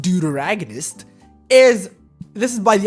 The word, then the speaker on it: deuteragonist: what a deuteragonist is okay so dear agonists pronounced deuteragonist is this is by the Oxford dictionary by